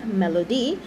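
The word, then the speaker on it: Mellodee: And Melody is spelled M-E-L-L-O-D-E-E, Melody.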